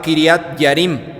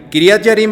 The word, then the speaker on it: Quiriat Jearim: misma ciudad se llamaba quiriat yarim se escribe quiriat jearim kirat yarim es muy mencionada en